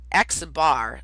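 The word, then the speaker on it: x̄: this down it becomes obvious if I say x bar see that x with a line above it that's pronounced X bar and you'll see I write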